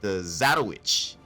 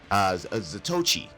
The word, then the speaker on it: Zatoichi: And they said the Zatowich, Zatoichi, there it is, it's the Zatoichi, I couldn't remember how they pronounced it, which is eerily familiar to Zatoichi, the blind swordsman.